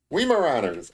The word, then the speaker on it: Weimaraners: Weimaraners.